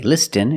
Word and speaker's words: listen: With this spelling pattern, you can see the T is silent. Listen. We don't say listen, it's listen.